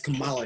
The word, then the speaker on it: Kamala: to pronounce her name i don't know if it's kamala come on it's kamala harris so correct them every